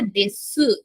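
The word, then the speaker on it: です: আচ্ছা, এই যে দেখেন এখানে ইংলিশে লেখা দেশু, তবে এটা উচ্চারণ হবে শুধু দেশ। ঠিক আছে, ইউটা কম উচ্চারণ হবে।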